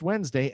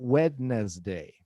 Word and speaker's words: Wednesday: And it because it's pronounced Wednesday and not wed day.